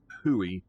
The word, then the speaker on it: Houyi: four of the different huey and it is pronounced hui like you would i guess spell w-h-o-i-e i guess uh it